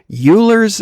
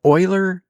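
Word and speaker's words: Euler: Even though there's that one part that I can't stand where she says it's um Uler's algorithm instead of Oiler and she's supposed to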